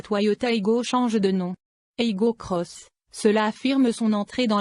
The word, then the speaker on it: Aygo X: Attention, c'est écrit Aygo X sur le haillon comme sur les montants de custode, mais il faut prononcer le X à l'anglaise, Cross.